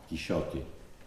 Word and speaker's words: Quixote: pienso que suficientemente razonada que Cervantes mismo publicaba pronunciaba a la antigua quixote porque Cervantes era un